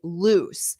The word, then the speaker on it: loose: So that's loose, loose. But don't confuse this with the word lose, ooze. So it's that end sound.